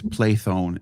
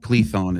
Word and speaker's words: Plethon: It's Plathon in Greek. It's Plethon and maybe some English anglicized version.